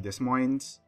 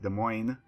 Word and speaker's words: Des Moines: get in the game this would be the Des Moines Ashley that's the wrong pronunciation it's pronounced Des Moines I think the people thought the Cleveland at